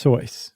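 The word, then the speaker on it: Seuss: a new pseudonym yeah soyce right s-e-u-s-s again but he pronounced its choice right but he was the only person who did um so he did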